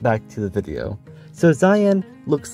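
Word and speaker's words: זין: Today we're going over the 7th letter of the Hebrew alphabet, called Zayin. But I should probably note that sometimes people will pronounce it as Zine.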